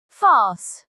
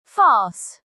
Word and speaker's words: farce: Now let us understand the pronunciation. Farce. Farce.